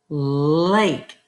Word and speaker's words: lake: And here, help clean up the, we have our silent E rule here. So, lake.